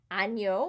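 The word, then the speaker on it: agneau: an and it's nia it's a different sound ano which means lamb dyna dini day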